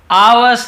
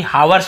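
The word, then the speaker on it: hours: आवर्स later, ठीक है, आवर्स, यहां पर भी हावर्स नहीं पढ़ेंगे, एस साइलेंट होते, केवल आवर्स।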